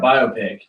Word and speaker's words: biopic: this is about movies bio like biography picture yeah thought you say thank God cuz I thought I was saying it wrong the whole time like in my head is not biopic yeah biopic right silver bopic Bop